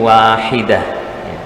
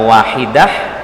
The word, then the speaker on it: واحدة: Tak marbutoh atau tak yang bulat ini kalau dia waqaf atau berhenti, suara dibaca wahidah tapi wahidah, ya. Sama misalnya di surat Al-Qari'ah, ya, itu juga tak marbutoh di ujung-ujung ayatnya, Al-Qari'ah, ya. Mal-Qari'ah, ya. Tidak dibaca Al-Qari'ah, Mal-Qari'ah, ya. Jadi tak marbutah kalau dia berhenti atau diwakafkan, suaranya berubah menjadi H.